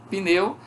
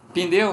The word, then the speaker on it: pneu: Pneu, nós temos a sílaba pin. Veja, algumas pessoas falam pneu, pneu. Elas pronunciam o nome da letra P, pneu.